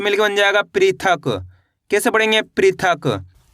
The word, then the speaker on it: पृथक: तो मिलके बन जाएगा पृथक।